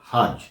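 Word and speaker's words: hertz: প্রথম নাম্বারটি হচ্ছে 2.5 হার্জ। আমি স্ক্রিনে নাম্বারটি দিয়ে দেবো। এখানে 2.5 জেড লেখা থাকবে, উচ্চারণটা আপনাকে হার্জ করতে হবে, ঠিক আছে?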